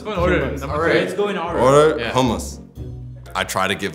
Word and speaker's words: hummus: How do y'all pronounce H-U-M-M-U-S?